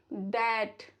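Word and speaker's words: debt: B silent रहता है after M, before T. For example, lamb, डम, थम, प्लमर, टूम्ब, वूम। चलो कुछ एग्जाम्पल बिफोर टी के देख लेते हैं। Subtle, डैट, डाउट।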